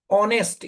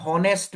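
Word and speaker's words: honest: word है ना ना ऑनेस्ट इसका हम लोग प्रोनाउंसिएशन क्या करता है ऑनेस्ट एच is silent here है कि नहीं अगर आप इसको गलत प्रोनाउंस करेगा आप बोलेगा एन होनेस्ट मैन बोलेगा एन होनेस्ट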